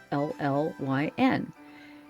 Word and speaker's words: Llyn: in Welsh are spelled L-L-Y-N, and double L's in Welsh are pronounced with a TH. It's a th sound. Llyn is the way you would actually pronounce my name in Welsh, and I really love